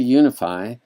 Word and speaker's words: Unifii: go to right now this is the unify so it's spelled uni FII and it's not calm